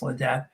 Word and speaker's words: Ledet: a friend of mine the debt link is pronounced I say well a day but it's late dad check out Cory Ledet